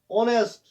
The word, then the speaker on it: honest: ऑनेस्ट, हम हॉनेस्ट मत पढ़ते हैं, HONEST, हॉनेस्ट हम पढ़ते हैं ऑनेस्ट, तो एच इसमें साइलेंट रहता है.